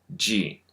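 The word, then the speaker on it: ぢ: Just like its hiragana counterpart, adding the dakuten to chi gives you ji.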